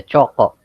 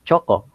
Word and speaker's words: choco: It is divided into two syllables. We have the cho and the ko. So here in the Philippines, we for us the letter C would always sound as k.